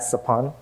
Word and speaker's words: Sophon: There's a lot of other Cambodian folks with the same SOPH prefix, like my dad, Sapun, SOPHON. my ex, Saphi, S-O-P-H-Y, and my best friend, Sapit, S-O-P-H-E-A-K. My name is pronounced!